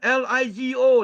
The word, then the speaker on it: LIGO: Bukan Lego, L-E-G-O, bukan. L-I-G-O, LIGO. Okay.